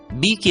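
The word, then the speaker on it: bake: ई का उच्चारण होगा बी की आवाज ब ए का नाम ए के की आवाज क और इ को भूल जाना है इसलिए उच्चारण होगा बे क बेक और एक उदाहरण देखते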